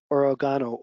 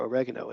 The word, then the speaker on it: oregano: kind of classic and origano oil or oregano as the Americans say so the general philosophy